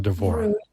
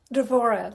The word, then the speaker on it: Devorah: And we put it in and it told us Devorah is what it told us as the pronunciation. But you are Devorah. Devorah, like a vampire, really.